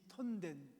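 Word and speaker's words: 屯田: 그리고 우리 OMF 선교사님이 막 개척한 교회, 삿포로라는 그 시티 안에 약간 변두리긴 하지만 이 톤덴, 둔다 이렇게 쓰죠. 톤덴이라고 읽는데 톤덴 크리스도 교회를 이제 제가 목회를 하기 시작한 거예요.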